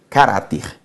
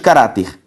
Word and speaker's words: caráter: paroxítonas note comigo seguinte caráter carapi intransferível orgãos Professor sílaba tônica de caráter la sílaba tônica de intransferível